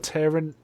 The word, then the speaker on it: Taron: Yeah, actually does it, but it was Michael Sheen and the guy that is it I can never pronounce his first name. Edgerton, Taron Edgerton.